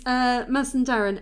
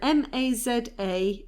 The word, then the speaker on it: Mazandaran: It's spelt differently, by the way. The modern day spelling, and I went with the modern day spelling in case anybody ever wanted to Google it, is Mazandaran, Mazandaran.